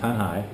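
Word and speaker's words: Tanjay: going to tan tanai t a n j a y pronounced tanhai um it's on the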